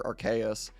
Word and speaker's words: Arceus: they've said at least the official company says like arceus or archais but i will uh i only say arceus i won't i won't do it like the the original way but uh yes i'm